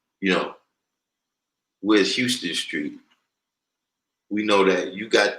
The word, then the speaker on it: Houston: Now, Houston Street is spelled the same way as Houston, like Houston, Texas, but it's pronounced Houston Street.